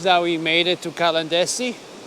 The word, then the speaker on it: Caladesi: we made it to calendar see that's how you pronounce it anyway we're still walking